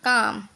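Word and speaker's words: calm: एम से पहले आया एल साइलेंट होता है, जैसे कि सी ए एल एम, इसको कालम नहीं, इसको पढ़ेंगे काम, बाम, पाम, आमंड, यानी कि ये जो हमारा है साइलेंट, ठीक है, एल हमारा साइलेंट होगा।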